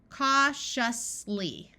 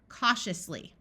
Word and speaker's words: cautiously: before the suffix sh cautiously cautiously note that This Ti says sh if you would like